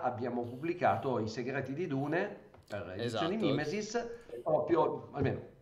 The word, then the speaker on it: Dune: noi anche perché ci ci piace la pronuncia Dune perché è anche quella più evocativa Insomma c'è tutto il discorso sono su come chiamarlo però gli inglesi gli americani lo chiameranno diun Però noi qua esattamente